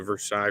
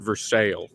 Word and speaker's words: Versailles: say you're going to Versailles for the weekend except we pronounce it for sale I was gonna say